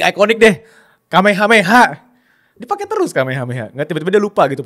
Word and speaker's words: Kamehameha: yang enggak tahu came mungkin ada yang mispronounce kamiha ya cuman ya itu mungkin itu masalah yang cukup umum sih Kame Kameha gitu kan kame hameha kan.